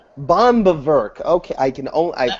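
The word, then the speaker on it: Böhm: How the hell do you pronounce Eugene Bomb von Bower? Bomb. Bomb.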